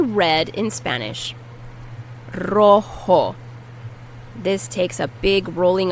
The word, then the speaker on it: rojo: Rojo. This takes a big rolling of the tongue. Rojo. And the J is pronounced like an H.